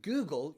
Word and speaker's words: Google: the g is pronounced so in google you have two instances two cases of g google google okay g followed by o